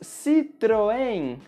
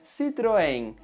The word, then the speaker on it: Citroën: No Brasil, nós falamos Citroën, Citroën. E palavras que terminam com as letras N ou M em português vão ter esse som nasal.